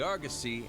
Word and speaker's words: Argosy: shipment requests for the Argosy and harvest requests for botanical research. It's pronounced Argosy? I've always pronounced it Argosy. Argosy. I have to change that.